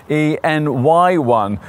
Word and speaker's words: e:Ny1: thank goodness so e anyone well actually this Honda's name is supposed to be pronounced en n y1 uh that acronym is